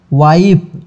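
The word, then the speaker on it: wife: क्या हुआ है, I, और यहाँ पे E का अपना कोई उच्चारण नहीं है, तो इसको हम पढ़ेंगे वाइफ।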